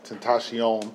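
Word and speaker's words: XXXTentacion: So one thing that happened too, we heard that XXX Tentacion. No, his name is not Triple. It's Tentacion. Triple X.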